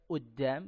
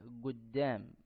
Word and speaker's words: قدام: Ada yang membacanya minhum man yaqra hadza uddam bil hamzah seperti orang Mesir, wa minhum man yaqra hadza guddam dengan huruf ghain atau huruf g, ya.